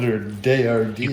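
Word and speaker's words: Daiya: Now, it's actually pronounced... Daya. You had a bunch of people in the comments last time correcting you. Daya cheese. I am standing corrected on, instead of calling it Dila, I think I called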